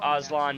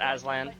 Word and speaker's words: Oslon: Right. Oslon, not Alan.